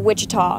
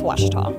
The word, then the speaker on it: Ouachita: University back in Texas everybody pronounces it Wichita but really it's Ouachita Washington how would you